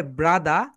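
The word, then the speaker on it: brother: British sound হবে ব্রাদা, and American sound হবে ব্রাদার।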